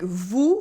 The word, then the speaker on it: vous: When you pronounce OU, your lips are rounded, your mouth is almost completely closed, OU, and your tongue is in the back, OU.